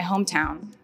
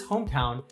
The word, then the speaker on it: hometown: over in the words Hometown the primary stress falls on the first syllable home so the word is